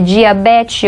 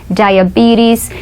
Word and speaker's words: diabetes: Diabetes, para quem não sabe, é diabetes. Olha só como a gente pronuncia diabetes.